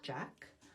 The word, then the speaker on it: Jacques: Um and I also love Jacques, which could be kind of cute in English, just pronounce like Jack.